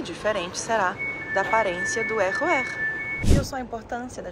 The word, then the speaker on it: RER: Deixa a língua sempre encostando nos dentes de baixo. E a combinação para você aprender a pronunciar é o RER.